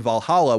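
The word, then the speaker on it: VA-11 Hall-A: that so-called action bartending game Valhalla which is spelled VA - 11 and then Hall - a comes to ps4 on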